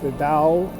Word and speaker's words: Tao: Now understand that the Tao, the T is interchangeable with the D, so you may hear some people refer to it with a D pronunciation or a T pronunciation.